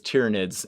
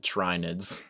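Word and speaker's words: Tyranids: I have a friend who plays Tyrannids and he still pronounces it trinids.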